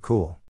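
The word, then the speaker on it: Cumhall: her parents effing knew what they were doing it's pronounced cool and not from a series of books but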